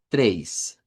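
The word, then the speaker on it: três: Tres. Tres. Y siempre cualquier palabrita del portugués que lleve esto, lo que nos está indicando es que el sonido es una e.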